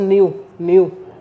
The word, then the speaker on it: gnu: चौथा ऑप्शन दिया हुआ है मेरे पास न्यू।